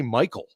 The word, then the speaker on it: Mycole: By the way, does he say Michael or does he actually say Michael? It's Michael. That's what I thought. It's Michael, and it's spelled Mycole.